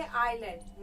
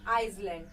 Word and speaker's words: island: ISLAND, इसको pronounce करेंगे आइलैंड, नॉट आइसलैंड।